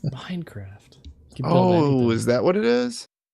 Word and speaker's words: Minecraft: it's not Minicraft; it's Minecraft. Yeah, really see. emphasize the craft.